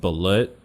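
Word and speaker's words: balut: the what we have in the philippines called bullet have you heard of this bullet it's so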